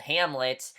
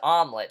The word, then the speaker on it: Hamlet: that he's making called Hamlet but he pronounced it wrong as omelette so Nick decides to